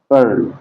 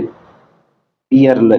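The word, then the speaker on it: pearl: silent परल परल मोती परल इस तरह पढ़ेंगे पर जैसे पयर इस तरह नहीं पढ़ना ठीक थोड़ा इस तर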